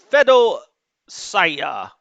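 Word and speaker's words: Feodosiya: surround these units uh by this port uh fedo saya of course that's how you pronounce it well that's how the locals pronounce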